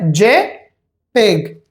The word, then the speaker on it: JPEG: For example, the first one is G J P E G. People say JPEG. J peg. J letter, peg as a single word.